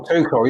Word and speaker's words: Tuchel: What's that, how you pronounce his name? Tuchel, yeah. Oh, Tuchel, yeah.